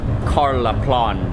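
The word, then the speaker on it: Karlaplan: it to the station I think I was mispronouncing it before it's more like Carl applaud there's this term in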